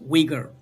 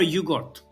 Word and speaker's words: Uyghur: And also I hope people to um remember there is a language called in English we pronounce wiger but we call it just like yogurt. remember yugort because yugort this word